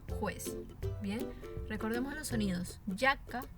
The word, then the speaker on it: giacca: Ahora, en la columna de la derecha tenemos así, pero se va a pronunciar como you, ¿verdad? You. Entonces, ya, yo y you. Y tenemos los ejemplos, obviamente. Giacca, que significa chaqueta, giorno, que significa día, y giudice, que significa juez.